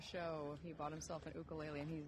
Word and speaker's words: ukulele: he bought himself an ukulele, and he's not put it down since. An ukulele? Yeah, that's how you say it there. And then he gets very like, no, it's ukulele.